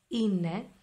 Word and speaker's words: είναι: Now, as you can see, it is pronounced είναι, but it is written with an epsilon iota sound.